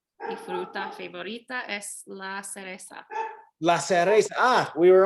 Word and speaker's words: cereza: Ah, la cereza. Es la cereza. S-E-R. C-E-R. It's just like cerveza, beer, but without the V.